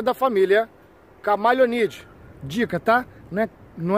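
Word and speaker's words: Chamaeleonidae: outro é da família camaleonide. Dica, tá? Não é iguanidae, não. Não é iguanidae, é iguanide. Assim, é meio iguanide, quase morrendo no final que se pronuncia. E não é camaleonidae, e sim camaleonide.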